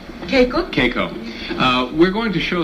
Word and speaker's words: Keiko: A nice welcome now, please, for John Alpert and his wife, Keiko. How do you do? Nice. You look terrific. You don't. Am I pronouncing your name correctly? Keiko?